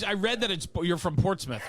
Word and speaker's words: Portsmouth: I read that you're from Portsmouth, right?